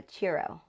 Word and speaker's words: churro: But I meant to say I want a churro. A churro. You gotta say it like a chew, like you're chewing.